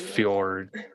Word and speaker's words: fjord: It's pronounced fjord.